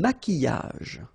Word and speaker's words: maquillage: Un maquillage. Okay, so here, same rule, QU, but then U is not pronounced, so qui, and then y.